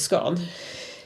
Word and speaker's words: scone: the reference is now I would actually pronounce that baked good as scone but that doesn't rhyme with stone which is the